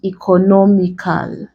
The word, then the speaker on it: economical: Now, if we are to add a suffix to this word, let's say to give us economical, the stress placement still remains on the NO.